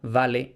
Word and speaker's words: vale: En pronunciación eclesiástica, vale y valete.